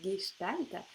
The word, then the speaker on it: Gestalt: live pour te parler gestalt puisque alors le mot en soi fois manqué pas toujours évident à prononcer parce que ça s'écrit ge mais ça se prononce bien gestalt est en fait je